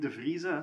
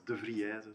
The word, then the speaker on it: Devriese: So I'm Devriese, so you were not that far, so that's I've had French people pronounce it as Devriese, so that's maybe more creative but less accurate.